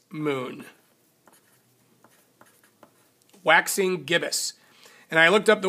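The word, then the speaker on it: gibbous: how to say it correctly um it's a gibbus moon Waxing gibbus and I looked up the word gibbus gibbus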